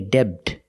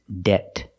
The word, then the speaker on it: debt: Remember, with debt, the B is silent. Do not say debt. It's debt.